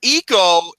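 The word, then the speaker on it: Ico: GNA say about it their eyes are pronounced ease so it would be Eco oh like um who's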